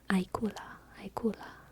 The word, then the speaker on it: ajkula: Is that J pronounced like a Y? Or is it like a J? Because it's in the middle of a word, which makes me think it might be different. Ajkula. Aikula. Does it get its own syllable? Is it Aikula or Ayakula? Aikula, or Ayakula. The former Aikula.